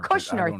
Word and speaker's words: Kushner: going on unless you're Steve Witkoff, you're Jared Kushner. Yes. Why am I saying his name wrong? Kushner? Did I say that wrong, Brock? Am I losing my mind? Kushner. Kushner.